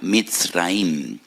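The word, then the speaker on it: מצרים: Y recuerdan la aflicción, la amargura de la esclavitud, porque la palabra Egipto en hebreo se pronuncia Mitzraim.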